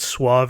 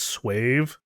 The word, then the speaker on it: suave: You haven't maybe you haven't caught that he pronounces the word suave as swave.